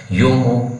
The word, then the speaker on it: Jomo: name a kenyan name though the spelling is jomo it is pronounced as yomo kenyatta now this particular